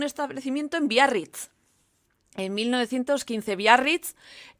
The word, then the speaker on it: Biarritz: En 1915 Biarritz, que yo lo pronuncio en perfecto euskera porque Biarritz está en el País Vasco francés, está aquí al lado,